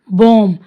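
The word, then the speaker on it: bomb: बॉम, अब इसको भी हम बॉम प्रोनाउंस करेंगे, बॉम ब नहीं।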